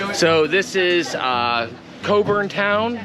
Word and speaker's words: Cockburn Town: So, this is uh Coburn Town, spelled like Cockburn Town, pronounced Coburn Town.